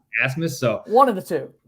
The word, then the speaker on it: Abmas: I've heard Abmas for Max Abmas, but I read articles where he says it's pronounced Asmus or Asmus.